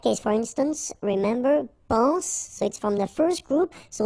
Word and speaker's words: soit: Okay, then of course être and avoir, so être will become soit, remember final S is not pronounced, soit, then soyons, soyez, alright,